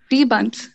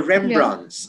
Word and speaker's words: Rembrandts: Rebunt.